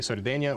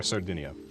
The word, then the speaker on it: Sardinia: And that would be Sardinia or Sardinia. Would have accepted either pronunciation.